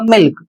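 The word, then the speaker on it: milk: और इसका उच्चारण होगा मिल्क। तो यहां पर एल के बाद के आया है लेकिन एल का उच्चारण ल के रूप में किया जा रहा है।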